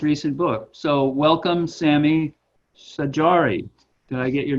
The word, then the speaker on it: Saydjari: field and his recent book so welcome sammy sajari did i get your name pronounced right or pretty close say dream that's